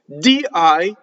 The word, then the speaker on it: dì: it's quid like hey di is the poetic word for de in Italian D and has an accent it is not to be confused with the preposition of di does not have the accent on the eye right do